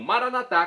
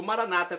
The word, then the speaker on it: Maranata: E agora do aramaico eu clamo Maranatá, como dizemos nós católicos, ou Maranata, como dizem nossos irmãos separados, os evangélicos ou protestantes. Não importa a pronúncia, o significado é o mesmo.